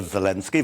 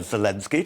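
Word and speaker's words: Zelensky: be there cheering on Vladimir valensky Vladimir zelenski to pronounce his name precisely uh yes it's a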